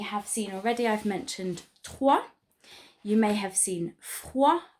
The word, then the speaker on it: trois: We learn, don't we, that it is trois. So the O-I in French makes a wa sound. Okay. So some sounds for you to practice then. Some that you may have seen already. I've mentioned trois.